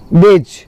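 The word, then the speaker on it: badge: Next है आपका बेज, है ना। बेज में क्या साइलेंट है आपका? डी साइलेंट है।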